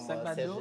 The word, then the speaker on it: Sagbado: Non, il faut appeler comme Sagbado. Serge oui, mais là, c'est compliqué. Hein. Sagbado. Ça, c'est lui. Sagbado. Sagbado.